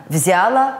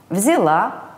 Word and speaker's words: взяла: стране люди начало поняло взяла брала уверен что вам не составит труда запомню что в глаголах прошедшего времени формах женского рода ударение падает на конечное а то есть правильно началом поняла взяла брала форме мужского и